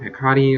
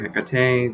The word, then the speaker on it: Hekate: i reached out to hikari or hekate depending on how you want to pronounce her name and to there